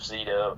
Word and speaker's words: Zito: You got Corey Feldman, and was it Joseph Zito? Yeah. Is that how you pronounce his name?